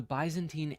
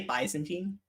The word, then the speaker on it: Byzantine: of Justinian caused the Byzantine Empire to change course but I'm sorry what fox epidemic I'm sorry Dapper Dapper did he just say bantine yes he did he did mispronounce Byzantine I might actually from